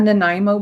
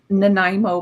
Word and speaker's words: Nanaimo: The owner stuttered, right? When he made the Nanaimo. first one. Yes. I'd like to make a Nanaimo. You mean Nanaimo? Yeah, that's what he said.